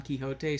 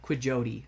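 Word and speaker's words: Quixote: Well, to be fair, an American who saw Don Kiote spelled out and didn't know how to pronounce it would call it Don uh Quijodote or something like that.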